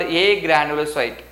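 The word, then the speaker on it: agranulocyte: one is called granulocyte another one is called a granulocyte you have to pronounce it as a granulocyte there is no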